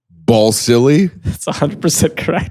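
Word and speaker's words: Balsillie: Uh, Ball silly, His name is Ball Silly. James Ball, Jim Ball silly.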